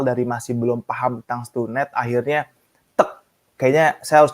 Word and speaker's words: StuNed: Terus bener nggak nih pronounce-nya Stunet kah atau Stun kah atau Stan kah Oh seperti apa iya, kan bener gitu bener ya? bener. Iya bener bener bener bener bener. Ya, jadi cukup mempronounce-nya dengan Stunet ya.